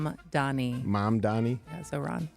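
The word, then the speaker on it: Mamdani: Mom Donnie.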